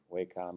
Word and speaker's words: Wacom: at the bottom is the Wacom or Wacom it's pronounced heard of both ways and this will give